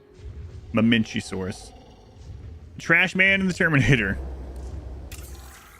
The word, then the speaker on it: Mamenchisaurus: This one is pronounced Mamenchisaurus. Mamenchisaurus.